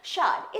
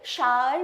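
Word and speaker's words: sour: शार। इसी के लिए मैं बोल रही थी इसका प्रोनाउंसिएशन कभी शार भी बोलते हैं और शार भी बोलते हैं।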